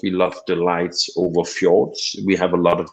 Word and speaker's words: fjord: We have fjord, as it's pronounced in Danish, or fjord in English, which is these where land go in, or the ocean goes into a land.